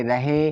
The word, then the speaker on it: रहे: यहाँ पर है प्यारे साथियों RAHE, इसे पढ़ेंगे रहे। तो आर से रा, ए साइलेंट रहेगा, एच का मतलब हा, ई से ए की मात्रा, तो हो गया रहे। यहाँ पर है THE, इसे पढ़ेंगे थे।